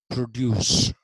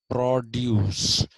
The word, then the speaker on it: produce: It's not agricultural produce, it is produce. What you have produced is produce.